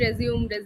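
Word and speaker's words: résumé: anyone resume so everyone knew that it was pronounced resume why were why were you still calling it resumed resume why not always never mind but keep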